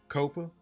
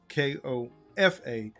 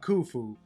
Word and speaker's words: Kofa: Kofa. Ko F A. Not coffee. Not Kufu. Not Kofi or any variation thereof. Kofa rhymes with sofa.